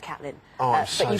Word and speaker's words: Caitlin: My name is actually pronounced Caitlin.